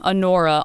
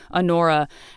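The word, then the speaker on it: Honora: on on Pauline's mother um Anora like spelled like honor with an a at the end Anora and they do they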